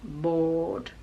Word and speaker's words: board: So for example, in door, short, talk, and board. Again, in that one we don't pronounce the r, so it's board.